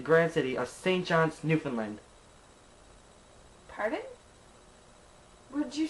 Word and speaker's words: Newfoundland: Anyways, it's pronounced Newfoundland, not Newfoundland.